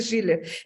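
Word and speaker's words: Schüler: es schuler o schiller es schiller pero se escribe schuler con diéresis pero se dice shiller la esposa del señor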